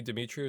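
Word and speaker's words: Demetriou: Yeah, Jamie Dimitru is how you say his name.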